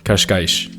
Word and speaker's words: Cascais: In European Portuguese, you'll hear a lot of sh sounds, since the S pronounced at the end of words makes that sound. For example, pastéis de nata, or the region called Cascais.